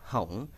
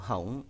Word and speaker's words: không: The word không is pronounced không or hổng when Vietnamese people speak fast. Actually, không or hổng is easier to pronounce than không for Vietnamese people.